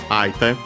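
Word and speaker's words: 相手: Actually, I don't think I mentioned the accent of Aite. It's accented on the last syllable, so be careful.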